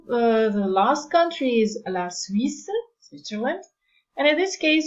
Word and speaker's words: Suisse: The only, when it comes to pronunciation, the only thing you have to look out for is the combination of the letter U, the kissing E in French, and the fact that you do not pronounce, you have to be aware that you do not pronounce the final E.